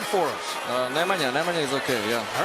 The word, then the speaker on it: Nemanja: Nemanja is okay, yeah.